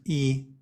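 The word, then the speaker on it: 二: much other meaning but everybody knows that's pronounced e and so they guessed it it's pronounced e okay now it makes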